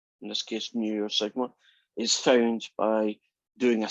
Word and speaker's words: sigma: pronounce as mu and this is a greek letter you pronounce it as sigma what does new tell